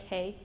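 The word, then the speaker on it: hej: And in Swedish it's pretty easy too, it's just like hey.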